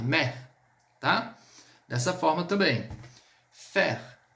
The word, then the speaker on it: fer: Fer, fer, fer significa ferro. A gente vai pronunciar o R.